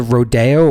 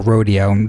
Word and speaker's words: Rodeo: so Sacramento's the town that he would tell people, but it's actually called either Rodeo or Rodeo, depends on how you pronounce it.